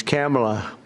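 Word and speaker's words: Kamla: It's Cam, right? Cam as opposed to Com.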